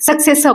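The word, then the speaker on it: successor: हैं फिर से स इसमें थ्री सेलेबल है एक दो तीन इसमें जो लास्ट वाला आर है ना उसको एंड ऑफ़ the word is not pronounced उसको हम बोलते ही नहीं है। सक्सेसर बोलते हैं। सक्सेसर नहीं बोलते हैं।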